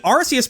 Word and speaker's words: Arceus: Whenever you have a C followed by an E, the C will make a soft S sound instead of a hard C sound. There are some exceptions to that rule, but they're extremely limited. So, if someone saw this name for the first time, they'd be more likely to pronounce with a soft C.